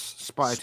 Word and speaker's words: Spytek: The name's Spytek.